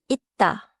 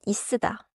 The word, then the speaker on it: 있다: At the end of a syllable, close the sound. For 있다, the target is 있다, not 있으다.